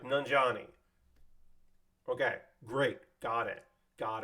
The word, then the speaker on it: Nanjiani: um what's up how do I say your last name because I'm going to introduce you in in like 20 minutes it was like nanjani okay great got it